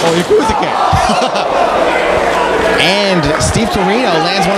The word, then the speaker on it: Yakuza: You said it wrong. It's Yakuza.